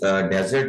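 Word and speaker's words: desert: अच्छा, ये जो लफ्ज डेजर्ट है इसको थोड़ा समझ लें कि ये नाउन है यहाँ पर और सिंगल एस के साथ है डेजर्ट। इसी स्पेलिंग के साथ इसका एक और तलफ़ुज़ होता है डिजर्ट।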